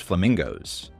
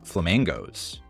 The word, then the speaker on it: Flamangos: way to the restaurant Gordon pronounces flamingos so Cheryl explains that it's called flamingos you know flamingos and mangoes combined there's nothing more tropical